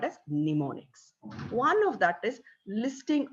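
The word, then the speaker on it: mnemonics: those techniques is pneumonics m is silent there we pronounce it as pneumonics so what are pneumonics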